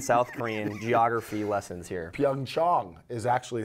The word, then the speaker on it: Pyeongchang: Pyeongchang is actually how you pronounce it. Apparently the Koreans pronounce it like that, yes.